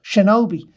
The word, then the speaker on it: shinobi: Like, it would have been pronounced Shinobi.